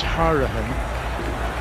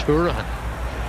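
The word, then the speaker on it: Hourihane: Still getting used to pronouncing that name as Harahan. He's Irish, and if it's in Ireland, I'm telling you, that's Hurahan, without question. But here in England, he's known as Harahan.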